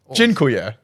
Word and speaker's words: Dziękuję: Zikuji? Don't anger the Polish. No, it's thank you. What I'll do is I'll download Babbel and I'll Dziękuję. Dziękuję. It doesn't sound like the how to spell it.